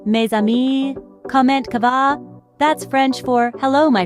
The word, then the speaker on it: comment ça va: It's pronounced comment ça va, with the N in comment barely pronounced.